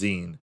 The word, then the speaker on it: zine: it wrong because i'm an idiot it's a zine it's spelled sein but it's pronounced zine what is this nonsense is a small circulation